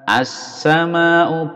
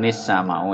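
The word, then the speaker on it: السماء: Kalau ini berhenti ya seperti tadi shiba as-sama'u bukan nis-sama'u ya tapi as-sama'u.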